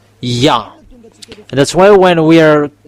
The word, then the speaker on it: Yah: It's yod and hey it's called yah. That's why when we are uh come back to the original how to read yod and hey it's yah.